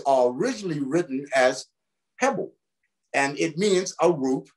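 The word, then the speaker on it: חבל: C-H-E-B-E-L, shibel. Better pronounced hebel.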